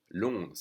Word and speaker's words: Londres: Londres, so it's even spelled differently. Londres. So we don't say the ES at the end. Okay? Londres.